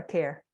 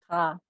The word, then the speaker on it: Carr: Is it Carr or Care? You're muted. Carr. Carr? Yes. Carr? Okay.